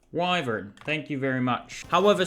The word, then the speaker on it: wyvern: a wild wyvern wyvern how do you pronounce this y Vern pretty straight wyvern thank you very much